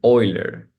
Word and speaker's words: Euler: I think going with Euler.